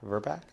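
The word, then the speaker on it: VRBPAC: Verbac. Um, how does it normally pronounce?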